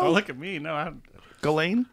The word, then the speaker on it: Ghislaine: Yeah, I got my Freeges Lane shirt because I believe all women.